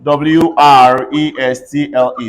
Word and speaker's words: wrestle: So T is silent whenever you have STLE in a word. CASTLE. Everybody say castle. Castle. WHISTLE. Say whistle. Whistle. WRESTLE.